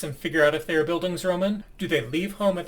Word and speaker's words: Bildungsroman: wind up being a Blindesroman when this entire series is completed. Now, what are Blindesromans? I'll quote Wikipedia. In literary criticism, a Bildungsroman, I've been pronouncing that one wrong, is a literary genre